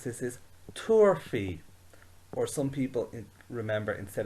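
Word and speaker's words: tabharfaidh: it has no i so the way we pronounce this is turfy or some people remember instead of that fee some people say he they would say tour he so turfy or torhi turfy may to shay she famige and we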